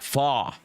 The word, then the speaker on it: pho: Yeah, Velocity Abstract says it's pronounced like pho.